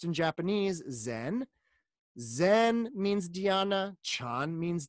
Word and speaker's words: Zen: so Chung Buddhism and that character Sean is pronounced in japanese Zen Zen means Deanna Sean means Dianna and Bodhi